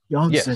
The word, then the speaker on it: Janssen: Janssen.